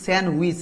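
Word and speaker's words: sandwich: এখন এটার উচ্চারণ কিন্তু স্যান্ডউইচ ডি উচ্চারিত হবে না এখন এটা অনেকে অন্যরকম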